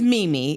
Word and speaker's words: Mimi: My name is Mimi. It is one syllable and it repeats.